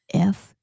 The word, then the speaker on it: futz: want to be very careful because you need to pronounce the whole word. F-U-T-Z.